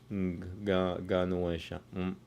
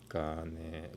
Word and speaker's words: Ganesha: Anyway, it's Ganuesha. Om Shri Ganueshaya Namaha. Om Shri Ganueshaya Namaha. Sounds about right. Yeah. Om Shri Ganueshaya Namaha. Om Shri Ganueshaya Namaha. Ganuesha. Not Gane. Gane is spelled. Gane is different.